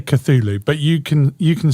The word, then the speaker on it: Cthulhu: the catulu mods octopus yeah or i say cthulhu but you can you can stay with katulu katuli because it's you know how you want to pronounce i mean are you mr mythology now